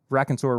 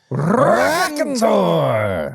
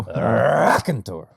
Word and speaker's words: Raconteur: This is the first time that we've reviewed Raconteur Rye on the actual podcast proper. You didn't say it right. Raconteur!